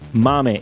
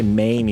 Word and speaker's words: MAME: you realize how insane Mame is. Multiple arcade machine emulator, whatever. And it's an Italian emulator, by the way. So I pronounce it mame but you can say mim if you want.